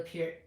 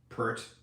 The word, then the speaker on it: Peart: Sierra says, yeah, Neil Peart is mispronounced the most. Neil Peart, yeah. Eart. You know, I was told in radio, and then I forgot about it. Everyone said Peart. Yeah, Pert.